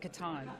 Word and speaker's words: Catan: it says in it's got little parentheses it's pronounced Catan do you consider is it the most inclusive